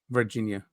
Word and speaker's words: Varginha: Is it, how do you pronounce it? Varginha.